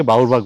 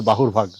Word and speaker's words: বাহুরভাগ: স্থানীয় ভাগে এটাকে বাহুরভাগ বলি, আসলে এটার উচ্চারণটা হবে বাহুরভাগ।